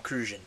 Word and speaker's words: Cruzan: passion fruit rum from kruan so in kruan I believe is the way you say it that's how they say it so I'm going to repeat what they do which is rare for